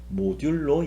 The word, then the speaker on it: 모듈로: 연 3% 라고 썼는데 우리가 읽을 때는 모듈로 연산이 라고 읽으시면 되요 그래서 x 모듈로 y